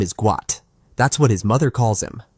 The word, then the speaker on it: Gout: it Bona insists that the correct pronunciation of his son's name is guat and he wants the world to recognize it as such for me I don't